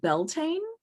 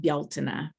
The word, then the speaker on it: Beltane: it and pronounce it beltane um but it's also it's a gaelic word and so i've been taught to pronounce it bialtena which is probably unrecognizable